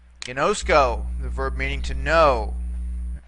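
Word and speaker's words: γινώσκω: Ginosko, the verb meaning to know, or in this case, I know. Here we have three syllables. See, gi, nosk, and ko.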